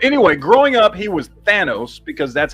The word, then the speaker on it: Thanos: so but it's but it's vowel consonant vowel which means it's a hard a it's which is Thanos